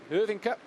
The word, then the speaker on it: Hyvinkää: go to his hometown of Hyvinkää in Finland, or Hyvinkää as they pronounce up there.